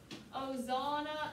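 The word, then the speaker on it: Hosanna: that for me the h is silent okay as american people we're going to go ozana in it crazy it's not it it's in so if i were you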